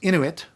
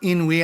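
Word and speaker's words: Inuit: into it in which by the way is pronounced into it you knew it or into it not in we I saw a book a while ago that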